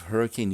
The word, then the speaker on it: Hurricane: Natives of Hurricane, Utah pronounce it hurricane, which is a source of great amusement to